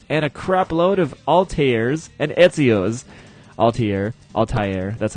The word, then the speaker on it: Altair: mages, cyber commandos, and a crap load of Altairs and Ezio's. Altair, that's how you pronounce it.